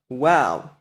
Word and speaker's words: Waw: Just keep in mind that no post-biblical evidence can overthrow the overwhelming evidence in the Hebrew Bible for the pronunciation wow.